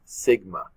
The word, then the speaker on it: sigma: And again, for a population standard deviation, that's what it's listed as, and we pronounce that as sigma.